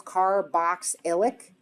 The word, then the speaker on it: carboxylic: car box ilic acid so just split it into like three syllables carboxylic acid yep and then the third